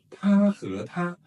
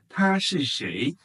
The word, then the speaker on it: 他: So 他和他 he and she. In Chinese, he or she, both are pronounced the same.